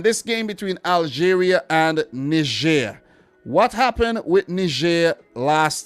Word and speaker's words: Niger: For this game, I'm going for Algeria to smash Niger 5-0. And it's pronounced Niger, guys.